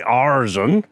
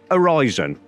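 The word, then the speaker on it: Aryzon: a-r-y-z-o-n Tommy pick pronouncing arson and my cameraman tells me it's basically Horizon and uh I'll have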